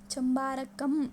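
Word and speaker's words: Chembarambakkam: Okay, मेरे साथ repeat करो इसको, प्रोनाउंसिएशन में आपको दिक्कत हो रहा है तो मेरे साथ रिपीट करो, कौन सा है? चंबारकम। ओके, सो ये जो लेक है ये है चेन्नई तमिलनाडु में।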